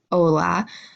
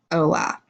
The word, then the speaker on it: hola: for hello we have hola as you can see here it does start with an H and H is not a letter we pronounce in Spanish so you're just gonna say hola or goodbye we have